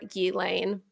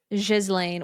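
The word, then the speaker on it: Ghislaine: The pronunciation of gizlane varies, but the most common English version is gilane, hard g with lane rhyming with rain. And a more traditionally French pronunciation is jizlane with a soft g like s in pleasure and len rhyming with again jazlen.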